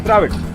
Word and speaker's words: Dravid: You know, whatever we pronounce, we write. You see, in Kannada, in Tamil, whatever we say, if it is Dravid, it is Dravid. Okay, we say it as Dravid, and we write also D-R-A-V-I-D, Dravid.